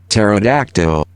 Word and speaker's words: pterodactyl: pterodactyl yeah it's LOD P silent hold on pterodactyl okay you just got like a robot AI